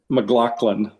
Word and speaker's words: McLaughlin: Well, it's actually McLaughlin.